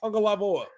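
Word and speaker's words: Tagovailoa: tagalog or how it's spelled but yet it's pronounced tango lava and for reals check it out if you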